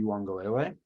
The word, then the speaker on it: Uiagalelei: Trevor Lawrence while they were playing with DJ Uiagalelei, because what they great pronunciation, by the way.